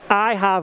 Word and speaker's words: Ihab: It's it's Ihab, like Ahab, like Captain Ahab. This is Ihab. so there's no H in the second syllable is what you're saying.